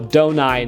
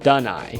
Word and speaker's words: Adonai: So, I asked her and she said, "No, it is pronounced more with a do instead of a duh sound." So, donai, not dunai.